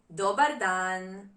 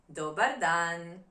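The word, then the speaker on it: dobar dan: Good day, good afternoon is dodan. Doan dodan.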